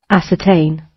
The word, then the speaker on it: ascertain: how to tell us how to read it ascertain okay i really made a mistake as a 10.